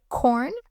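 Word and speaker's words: Quorn: know, name drop because we're not sponsored, but corn, okay, spelled with a Q.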